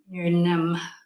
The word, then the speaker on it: Newnham: Is the N silent? No? Newnham. The H is silent.